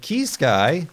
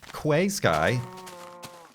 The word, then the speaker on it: Key Sky: Like Key Sky, who up until recently I was pronouncing Quay Sky.